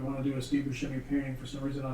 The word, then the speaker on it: Buscemi: up, in New York, and he pronounced his name Buscemi. And then when he got to be an adult, he went over to Sicily to go to his hometown, and they realized that he's been pronouncing his name wrong his whole life. Because S and C together is sh in Italian, so it's Buscemi.